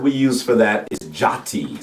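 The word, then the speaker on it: tjati: It's like chatty. It's like Chati, really, Okay. more than anything.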